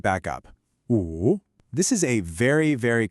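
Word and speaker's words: 五: This is pronounced wu. Now, this tone is what we call a falling, then rising tone.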